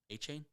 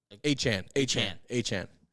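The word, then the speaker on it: De'Von Achane: And then also Devin A-Chain? A-Chan. God, that's a hard one. Devin A-Chan. It sounds like A-Chain because that sounds cooler, but I think it's pronounced A-Chan.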